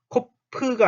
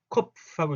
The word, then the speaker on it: Kopf: 컵, 코프가 아니고 컵하고 이게 소리만 새는 느낌으로 컵, 컵 이렇게.